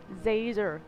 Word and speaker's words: Zazer: It's Professor Zazer, like laser with a Z.